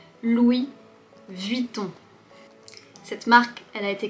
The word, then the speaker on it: Louis Vuitton: Premièrement, commençons par deux marques qui contiennent le son on.